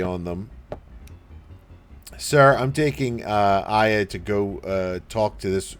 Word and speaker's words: Aya: Pretty sure it's Aya. I don't know. It's generally pronounced as Aya.